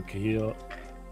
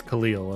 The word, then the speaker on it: Khalil: My boy Cahill. I can't even say his name. Cahill over at KNC Keys. And then I have some... I still have some B-Sun switches. It's Khalil, okay.